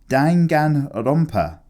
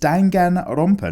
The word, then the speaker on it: Danganronpa: tanga romper is pronounced danghang a romper you have to slay oh oh I'm adding extra syllables where they don't exist it's danganronpa not danke danganronpa I like my version